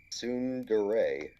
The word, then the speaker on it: tsundere: get worse for shinji when and everyone's favorite tsundere uh this german girl named asuka shows up they have sort of a rocky relationship like uh wait sorry everyone's favorite what tsundere that's how you say it oh i know